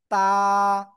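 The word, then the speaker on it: ت: কোন জায়গা থেকে উচ্চারণ হয়? জিহ্বার আগা, উপরে দুই দাঁতের গোড়ায় লাগান লাগান লাগান। জিহ্বার গোড়া না, জিহ্বার আগা লাগিয়ে সিম্পল একালিফ টেনে উচ্চারণ করতে হবে। তা, তা, সবাই জোরে জোরে বলেন, তা।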